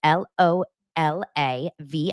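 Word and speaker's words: LolaVie: Aniston founded this award-winning hair care line called Lola V that's l o l a v i e pronounced Lola V and Jen Anison herself just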